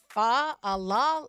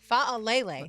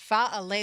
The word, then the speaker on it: Faalele: Well, the Jaguars did make it official when it comes to acquiring offensive lineman Daniel Faal. No, Fa Alle. That's how it's pronounced. Fa Alle.